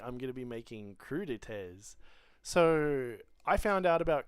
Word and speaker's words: crudité: So having a little look on just on Google, crudités is a French word, and it just means in English raw vegetables.